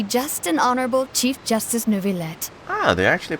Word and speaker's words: Neuvillette: have the absolutely just and honorable Chief Justice Neuvillette, Ah, they're actually pronouncing it right.